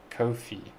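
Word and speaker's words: Ko-fi: do if it helps go for it it's pronounced kofi kofi okay thank you thank you i had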